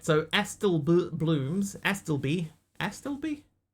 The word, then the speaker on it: Astible: How do How do you reckon you'd pronounce that? Aelby. Can I ask Uh, a stillby. A stillby. Pronounce that in typo. A stillby. There you go. That's how you say that.